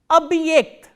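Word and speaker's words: объект: The next word we are going to do is abhyekt, abhyekt. Abhyekt is spelled as O, B, hard sign, ye, k, t.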